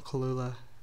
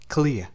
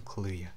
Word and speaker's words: Kaluuya: Then Daniel Kalula, how do you say his name? I got my computer right here. Daniel Kalula. Kalula. Kalula. He's British? Yo. Daniel Kalula. Kaluuya, yeah, that's it, got it. Daniel Kaluuya.